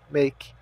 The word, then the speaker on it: make: verbo fazer é make O a tem o som de e e o e tem o som de I make então o Que Nós